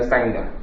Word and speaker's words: Sangha: I take refuge in the Sangha. Sometimes it's Sangha, sometimes it's Sangha. You'll see it's spelled with different letters in English.